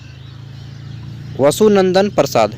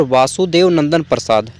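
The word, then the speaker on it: वासुदेवनंदन प्रसाद: इसके रचनाकार हैं डॉक्टर वसुनंदन प्रसाद। ठीक है, सॉरी मेरा प्रोनाउंसिएशन गलत हुआ, डॉक्टर वासुदेव नंदन प्रसाद।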